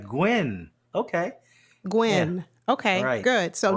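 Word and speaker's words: Nguyen: I'm gonna call you no it's gwy that's gwy that's not nguan it's gwy I've met too many people who pronounce their name spell it exactly the same and they really the 99% that I've met pronounce it gwy I had a former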